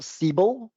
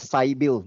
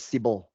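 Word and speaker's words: Sybill: remember that there's one tool out there called cble Sy YB i l l right steel. a some people call it sail no it's pronounced as cble Sy YB i l l c.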